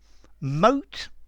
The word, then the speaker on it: moat: hi there students mote and mote so notice these two words are pronounced exactly the same uh and they're both